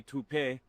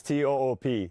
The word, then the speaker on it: Toop: Say it right. That's t o o p. That's Toop.